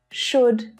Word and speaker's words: should: to here is that the l in all of these three words is silent don't try and pronounce that l it's actually easier than